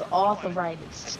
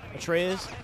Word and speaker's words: Atreus: I thought his name was Arthritis. Okay, buddy, go to sleep. Wait, he said what? He thought Kratos' son, Atreus, he thought his name, like how to say it, pronounce it, was Arthritis.